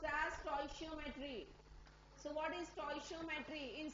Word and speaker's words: stoichiometry: So this is pronounced as stoichiometry.